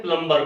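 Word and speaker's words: plumber: हैं आप बुलाते हैं प्लंबर को ले ही अव्वल नंबर है ही नहीं वह प्रमाणित इसमें भी बी साइलेंट तो नो प्रॉब्लम पर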